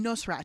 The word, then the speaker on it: Nosrat: say how do you say your name um no sir ah yeah no strat okay the host of course of salt fat